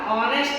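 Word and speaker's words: honest: ನೋಡ್ರಿ ಯಾನ್ ಅವ ಯಾನ್ ಆನೆಸ್ಟ್ ಅಂತ ಕರೀತೀವಿ ಆನೆಸ್ಟ್ ಎಚ್ ಸೈಲೆಂಟ್ ಆಗುತ್ತೆ ಆನೆಸ್ಟ್ ಅಂತೀವಿ ಅದಕ್ಕೋಸ್ಕರ ಇದು ಓವೆಲ್ ಸೌಂಡ್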